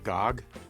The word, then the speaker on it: GOG: PC by way of Gog that's how you say it right Gog this is an early